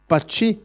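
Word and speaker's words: Patxi: they are so complicated how do you pronounce p a t x i parchee okay so i was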